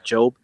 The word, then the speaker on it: Job: So that's Job, actually how you pronounce yeah. it, Job. So he had all this lavish stuff.